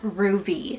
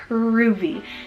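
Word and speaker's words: Ruvy: So we are starting over on the girl side, and we have the cute name Ruby, spelled R-U-V-Y. Ruby. Now this is absolutely adorable.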